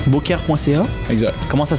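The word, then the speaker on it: Beaucaire.ca: Boker.ca. Boker.ca. Exact. Comment ça s'écrit ?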